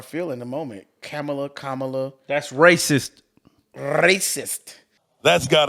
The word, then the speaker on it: Kamala: it's very serious um how to pronounce the vice president's name camela oh that's what it is Kamala Kamala C uh I